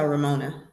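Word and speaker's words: Remona: Yes, but she goes by Ramona.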